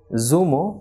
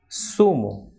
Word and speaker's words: zumo: be soft unlike English for example the person is not Zuma but it is sumo so like in English we say sir that is of the alphabet s so the same pronunciation of the same sound ripple produced in Spanish for this alphabet that is SATA so the person is sumo saragossa and cerveza she should not be Zumo zaragoza oats cerveza but sumo Siragusa